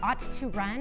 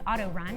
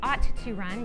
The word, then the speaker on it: Aut2Run: So our race, we nicknamed the Ought to Run. It's oftentimes mispronounced as auto run, and it drives me nuts. But the Ought to Run, meaning autism, and that it's a running event, was created 3 years ago.